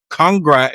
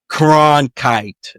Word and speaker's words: Cronkite: Oh, Walter Congrite, whatever his name is. I can't pronounce it.